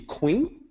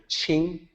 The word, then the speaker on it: Qing: say well that's maybe queen or king but it's actually qing ch and that's confusing because no other english word in our conventional usage has that rule associated with it that q should be pronounced like ch so with these sets